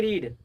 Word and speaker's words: read: उसके बाद है हमारा आई रीड।